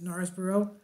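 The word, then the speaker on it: Knaresborough: birthplace at Gnarls borough it spilled with a K but I pronounce it Norris borough and the other in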